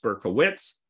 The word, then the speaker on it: Berkowitz: was a child uh the name is pronounced berkowitz it's heavy on the wits and so i've used